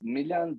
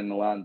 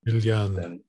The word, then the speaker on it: Miljan: Miljan, but I go by Milan because in Serbo Croatian, most people can't pronounce yeah. So for the last 27 years, people know me as Milan, except if you're from the Balkans, so you can pronounce that L and J as yeah.